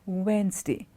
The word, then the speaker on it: Wednesday: it is not to redness t it is Wednesday Wednesday the T D is silent it's a Wednesday okay I'll meet you next Wednesday not redness D Wednesday okay and not a commonly mispronounced word is